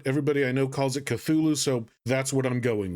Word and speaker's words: Cthulhu: Side note, I know it should be pronounced Kulalu, but everybody I know calls it Cthulhu, so that's what I'm going with.